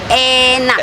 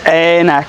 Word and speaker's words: enak: Anak is a Anak is daughter. daughter. Oh, okay. Enak. Enak. Anak, enak. Anak. Enak yummy. It sounds similar.